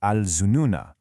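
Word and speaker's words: الظنونا: If you were to pause on this word, you'd pronounce that final "a" sound, "al zununa". But when you connect it to the next word, that written alif goes silent. You read it as "al zununa hunalika".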